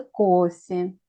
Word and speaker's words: кофе: Это кофе. Please pay attention how we pronounce it.